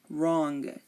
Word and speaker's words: wrong: wrap wrinkle wrist right wrong you are not hearing the W in any of these words I'm going to repeat